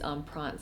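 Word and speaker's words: Empreinte: Matisse and I believe the way that you pronounce this type of leather is on prawns so I got it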